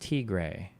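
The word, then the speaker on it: Tigray: It's pronounced T gray.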